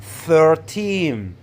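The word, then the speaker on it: thirteen: stress teen numbers like 13 14 and so on when counting or referring to 13 numbers stress the second syllable team make it longer louder and higher pitch look at example number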